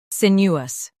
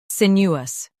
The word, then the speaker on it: sinuous: Sinuous. Now, read the syllables shown on the screen naturally. Sin. U us. Sinuous. Stress sin and keep U smooth.